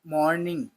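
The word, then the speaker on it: morning: वन मॉर्निंग, मॉर्निंग इसमें आर थोड़ा, आर की प्रोनाउंसिएशन हाफ लेकर चलनी होती है आपको।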